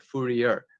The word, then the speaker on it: Fourier: called fourier analysis it's spelled f-o-u-r-i-e-r looks like fourier but it's pronounced fourier analysis in any case that's how